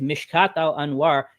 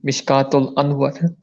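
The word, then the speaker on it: Mishkat al-Anwar: he needs to arab he need to be good at pronouncing mishkatl on water it's mishkatl and well god damn it it's not that hard to pronounce and it's one of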